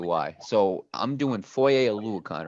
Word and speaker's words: Oluokun: I definitely butchered that, Mario. How you Yeah, pronounce it's that, Mario? Foye. It's Foye Oluokun. Oluokun.